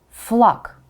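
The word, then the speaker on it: флаг: familiar letter G and you are tempted to say it like in English flag right flag but no it's at the end of the word so G becomes right you study the pairs and you choose the counterpart the voiceless counterpart for that letter flock flock a longer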